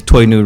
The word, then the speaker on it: Toyno: So my name is Toyno. It's pronounced like new toy backwards, Toyno.